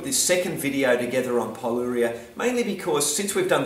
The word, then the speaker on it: pyroluria: suppose I have to comment on is my pronunciation of the word Paulo Rio I initially called it Tyrol urea now in my defense I when we did